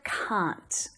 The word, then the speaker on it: can't: practicing earlier right can't in my accent it sounds like the word c but with a n on the end okay can't can't now